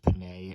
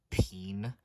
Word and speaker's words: penne: I recently learned that that is pronounced penne and not peen.